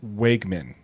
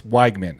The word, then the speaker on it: Wegman: as having, uh, Connor Wegman. Yeah. So, it's like it's Wagman, actually. Wagman.